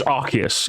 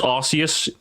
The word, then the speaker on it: Arceus: It's Arceus. Anyone who says Arceus, go to bed.